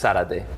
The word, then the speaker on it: Zarate: Yeah, when in Spanish it's Zarate. Zarate. Yeah, that's why I'm saying, like, do you pronounce the Z, do you not? It's like English or Spanish, whoever's saying it, then it changes. Right.